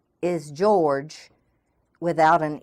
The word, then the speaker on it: Georg: is the German Antichrist and his name is George without an e on the end g-e-o-r-g pronounced Georg ancewein who is an Archbishop and